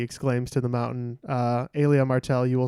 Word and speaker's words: Elia Martell: so uh yes uh it's Alia Martell so I think we have to award points uh just to Kelsey on that one the pronunciation is said several times in the scene between the mountain and the Viper uh as he exclaims